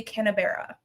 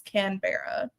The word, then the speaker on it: Canberra: it's spelled like, but Australians pronounce their s their city names differently. So, uh it's Canberra sort of, I guess.